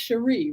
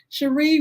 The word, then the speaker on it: Cherie: And it's pronounced Cherie, right? Yes. Cherie, we met just recently.